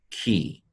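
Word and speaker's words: כִּי: So this is pronounced key.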